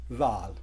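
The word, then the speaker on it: ذال: लेकिन इसे जब प्रोनाउंस करना है तो आपकी टंग जो है बिटवीन टीथ होनी चाहिए, जाल, जाल। तो इस चीज़ का ख्याल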